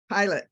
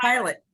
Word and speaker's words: Pilate: Pilate did. Right. Am I pronouncing her name correctly? Pilate. I'm sorry. Pilot. Pilate. Pilot. Pilate. You're still stuck on Pilates.